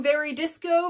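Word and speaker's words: Veridis Quo: very disco off Discovery if you've been mispronouncing very disco for the past 22 years well there you go but the story of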